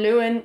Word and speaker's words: Luan: I said, oh, you can also say An Luan, An Mháirt, An Chéadaoin.